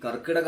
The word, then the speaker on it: കർക്കടകം: ശരിക്കും കർക്കടക മാസം എന്നാണ്, കർക്കടകം എന്നാണ് ആ മാസത്തിനെ നമ്മൾ പറയാറുള്ളത്, വിളിക്കാറുള്ളത്. അങ്ങനെയാണ് വിളിക്കേണ്ടത്.